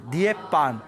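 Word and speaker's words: 涅槃: 그리고 열반이라고 중국에서 열반 이렇게 번역을 한 게 우리 한글 발음으로 읽으면 열반인데 중국 발음으로 열반을 닛반 이렇게 발음이 됩니다. 니에반.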